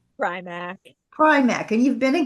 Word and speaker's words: Primack: Primack or Premack? Primack.